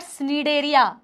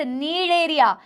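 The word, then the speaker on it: Cnidaria: Porifera स्पॉन्जस, कॉलेंट्रेटा नहीं है। This is नॉट कॉलेंट्रेटा, this is नॉट स्नीडेरिया, this is Coelenterata, this is नीडेरिया। C silent है।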